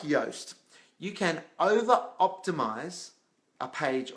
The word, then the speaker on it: Yoast: But one of the good ones around SEO is Yoast. So it's spelled like toast, except it starts with Y at the beginning, Y for yellow.